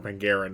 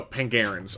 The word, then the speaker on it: Pangarans: Sorry, I said that name wrong. Wait, I is that another don't. planet? Hold on. We'll retcon it. I'm pretty sure I got it right. I'm just trying to remember. Hold on. No, Pangarans. Okay, I was mainly right, just slightly off on my pronunciation.